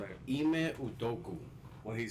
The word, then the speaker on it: Udoka: Ime Udoka. What he said. Yeah. So sound like Sudoku. Sound like Sudoku.